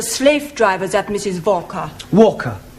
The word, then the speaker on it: Walker: more all that Mrs vka is keeping me busy Anna do this Anna do that she is a Slave drivers at Mrs Walker Walker what w is pronounced W your employer's name is Walker yeah vka do you